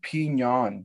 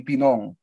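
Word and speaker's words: Pinan: out about that is even the word pinyon would pronounce with the spanish extracts over the n is is not japanese right so like if it was going to be pronounced in japanese it would be pinon like that's how it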